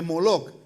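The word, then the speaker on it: Molech: las letras que es en vez de emelec rey se pronuncia molo me sigue para hacer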